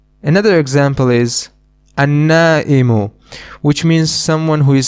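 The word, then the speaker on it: النائم: Another example is an-na'imu, which means someone who is sleeping, asleep. In this noun, we do not pronounce the lam again. The reason is that noon is one of the sun letters, an-na'imu.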